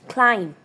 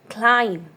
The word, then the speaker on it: climb: Climb. Climb. B is silent.